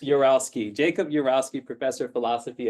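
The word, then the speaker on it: Urowsky: How do you pronounce the middle? I just make it up. Uralski. Uralski.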